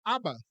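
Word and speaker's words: אבא: na Bíblia né a palavra papai em aramaico é ABA repete aba ou abá também é outra tradição é outra pronúncia correta e para mãe é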